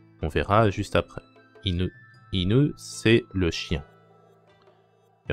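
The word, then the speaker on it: いぬ: difficile, mais c'est pas inu, c'est inu, inu. Alors, ça on verra plus tard, mais c'est pas ou comme en français, c'est u. On verra juste après. Inu.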